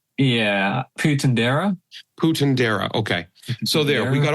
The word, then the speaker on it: Puentedura: How do you pronounce his name? Yeah, Puentedura.